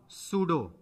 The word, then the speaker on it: pseudo: दूसरे साइड लिखो, इसका दूसरा नाम सूडो, पी साइलेंट है, PSEUDO, सूडो सॉलिड, छदम ठोस।